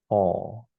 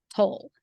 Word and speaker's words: toll: toll. Okay. Okay. Kind of like, and do you know what a troll is? Yes. It's Okay. kind of So monster. it's like troll, but without the R. So toll.